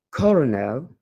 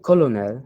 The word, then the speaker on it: colonel: « Colonel » et « February ». D'aucuns sont tentés de prononcer « colonel », ce qui est faux, mais on dit